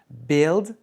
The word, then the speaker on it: build: Learn, learned, learned, build, buildt, buildt. Attention, celui-là, on prononce pas le u.